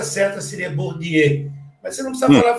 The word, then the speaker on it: Bourdieu: A pronúncia certa seria Bourdieu, mas você não precisa falar francês para fazer entrevista, tá?